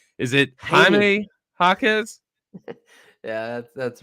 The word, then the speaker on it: Jaime Jaquez: And I'm talking about, I don't want to say his name wrong. Is it Haney. Jaime Jaquez?